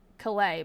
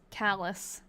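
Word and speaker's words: Calais: I've been saying the name of this town, Klay, but it's not. It's Callus and Mont Peel is the I think the correct pronunciation of what I was saying.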